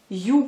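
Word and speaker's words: Ю: You comme vous prononcez comme un you en anglais.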